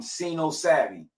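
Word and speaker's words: Cino Savvy: stop with the rapper name is um C Savvy right I believe that's how you pronounce the name c savy c i n o s a v v y bro black people black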